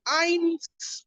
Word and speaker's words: Innes: See also the case of Hines against Willie. Hines against Willie. We spell Hines as INNES. Hines against Willie.